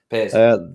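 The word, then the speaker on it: Pears: I wish I knew how to pronounce his name. Piers.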